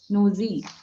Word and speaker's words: nosy: it's no Z nosy will sound like this nosy that's the only slight pronunciation error otherwise it is okay and let's